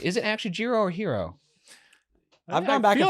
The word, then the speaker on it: Jiro: Is it Hero or Gyro? It's Hero.